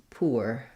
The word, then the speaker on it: poor: on your skin um but some people will say this one as poor and that has the u sound in American English and in British English so you can you